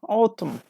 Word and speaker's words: autumn: is B yes plum number four number four autumn which later Nystrom isn't pronounced here autumn number four and Leila says